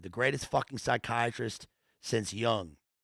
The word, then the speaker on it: Jung: That's right, the best in uniform, the greatest fucking psychiatrist since Jung. He pronounced the J. Oh, so he says Jung.